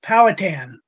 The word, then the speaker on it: Powhatan: the beginning you know not to correct you the pronunciation but it's powhatan i grew up probably right i grew up in virginia and i lived on powhatan avenue so just for what